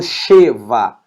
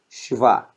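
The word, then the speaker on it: שְׁוָא: ó fiz vá chuva' eu não falo chewa falo shiwa chuva perceba que eu pronuncio praticamente o som do sh porque cultivar esses dois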